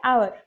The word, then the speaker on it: hour: लेकिन हम आवर की जो प्रोनाउंसिएशन करते हैं तो कौन सा साउंड आता है आवर, ए साउंड होता है। तो ए साउंड कौन सा साउंड है वॉवेल साउंड।